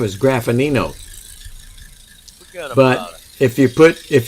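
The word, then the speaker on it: Graffagnino: graffinino it's g-r-a-f-f-a-g-n-i-n-o and that g is silent in the middle well you know what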